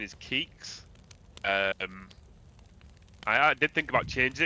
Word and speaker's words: Keeks: Yeah, so it's pronounced Keeks, but a lot of people pronounce it all sorts of ways. K33 is the common go-to because I think people don't know how to say it.